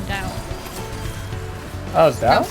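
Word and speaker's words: Tao: Chinese is just weird because, like, T-A-O, I remember being in high school and they said you don't pronounce it like a T, it's a D, it's usually the Dao.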